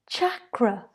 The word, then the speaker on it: chakra: just as katie returned chakra it's pronounced with a cha like chocolate not a shirt like